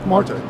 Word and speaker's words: Marte: And LT, I just want to let you know, is it Marty or Marte? Marte. Marte.